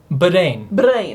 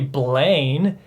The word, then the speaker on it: Brain: Well, it's like his name would be pronounced like Brain. Brain. Because L and R are the same letter in Japanese.